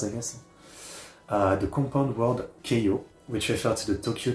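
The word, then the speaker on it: 京葉: The compound word Keio, which refers to the Tokyo Chiba region, is formed from the second character in Tokyo and the second character in Chiba, which can also be pronounced like Keiyo.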